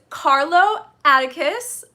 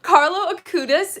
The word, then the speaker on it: Carlo Acutis: so today's topic is carlo atticus sorry i literally looked up and watched a video on how to pronounce his name so carlo akudis he is going to